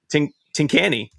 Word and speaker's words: Tincani: Matt Tincani. Did I say it right, Matt? You did. Yes, you did. Before we started the show,